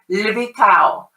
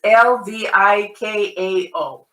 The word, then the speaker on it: Lvikao: It's the famous lvikao. It's Lvikao. Lvikao. And a lot of times you don't want to pronounce too many consonants together, but languages like Russian are really good at that.